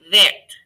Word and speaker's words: verte: And for two of them, it changes the pronunciation. Répétez. Vert, verte.